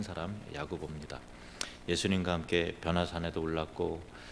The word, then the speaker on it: 야고보: 구약의 야곱 야곱을 헬라식으로 발음하면이 야고보입니다.